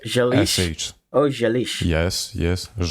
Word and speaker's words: želiš: Želiš li Ž, ž, se ž, ž. že želis So the želis S at the end is pronounced sh, like želiš sh.